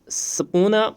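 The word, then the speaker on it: subpoena: next question जो है what does सपोना mean ठीक है एस यू यहां पे बी साइलेंट रहता है पी ओ ई एनई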